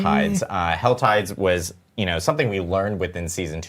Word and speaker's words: WASD: actually pronounce this but I've always called it wasy other people call it wasda some people call it WD I almost want to